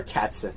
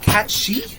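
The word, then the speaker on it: Cait Sith: You're Cat Sith for now on. Apparently you pronounce that Cat She? I Like, because it's Gaelic or something like that. Like, it's supposed to be Kate Sheath or something like that.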